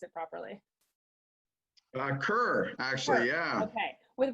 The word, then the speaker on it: Kerr: Is it Kerr or Kerr? I don't know how to pronounce it properly. Kerr, actually, Kerr.